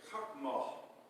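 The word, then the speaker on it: חכמה: The Hebrew word is chachmah. Chachmah kind of sounds like a Klingon word.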